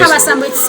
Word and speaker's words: Kabashambo: It's Kabasambo. Okay, it's written in Victoria, where they'll pronounce it in Nyanko. Yeah, I know. Yeah. So you just tap Kabashambo.